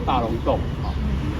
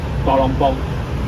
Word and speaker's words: 大龍峒: 这个地方我们都知道国语叫做大龙洞那知道台语怎么念吗？大龙崩。